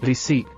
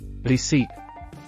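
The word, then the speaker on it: receipt: ರಿಸೀಟ್, ರಸೀದಿ. Silent letter P. ರಿಸೀಟ್.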